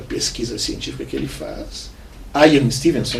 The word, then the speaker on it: Ian Stevenson: Então, no livro que ele divulga, a pesquisa científica que ele faz, Ian Stevenson, né, seria a pronúncia em inglês correta, né? A gente, uma portuguesona, Ian Stevenson.